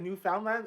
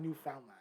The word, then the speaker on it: Newfoundland: Oh, like, I feel like some people say like Newfoundland is Newfoundland. Newfoundland. It's not Newfoundland. Yeah, well, if you're saying like phonetically, of course it's Newfoundland, but we don't say words like that.